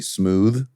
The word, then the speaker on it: Smoove: like his name's really smooth, but you're trying to be super down. So smooth. Well, that's what it sounds like. But it's spelled smooth. It is with a V.